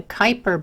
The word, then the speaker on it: Kuiper: Mars and Jupiter the Kuiper belt that rhymes with Viper is also made of